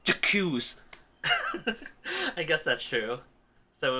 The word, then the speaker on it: j'accuse: it'd be more like it wouldn't be like a hard J. It'd be like that. J'accuse. Something more like that.